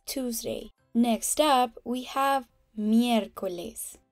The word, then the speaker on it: miércoles: Next up, we have miércoles. Note the accent on the E. It means we have to place special emphasis on that letter when pronouncing it. It basically lets us know that it's not miércoles or miércoles, but miércoles, meaning Wednesday.